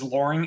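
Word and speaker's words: Loring: So, so the Air Force base, this is Luring Air Force Base. Am I pronouncing that right?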